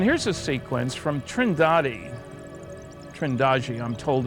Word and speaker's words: Trindade: And here's a sequence from Trindade, Trindade, I'm told it's pronounced, 600 miles east of the coast of Brazil.